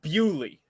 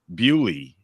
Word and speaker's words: Beaulieu: Now I'm Canadian, and like this is a surname that you'll encounter in Quebec, and it's Beaulieu. Apparently, this town is pronounced Bewley. Bewley, yes.